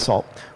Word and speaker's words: NaCl: this new salt Library na ACL so pronounce that salt which is aiming at